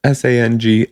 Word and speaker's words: Sangiovese: I can't pronounce this word. Sangiovese. That's Sangiovese.